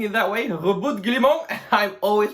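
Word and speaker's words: Roboute Guilliman: name of the Primarch looks and sounds extremely French, so that's why I'm pronouncing it that way. Rebut Guillemot, I'm always pronouncing it that way in my mind as well.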